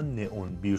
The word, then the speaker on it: N11: نئون بیر، نه که توی زبان ترکی همون نه هستش و 11 رو بهش میگن اون بیر. بعد توی ترکیه این تلفظ میشه به سایت نئون بیر.